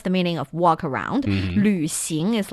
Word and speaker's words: 旅行: 旅行.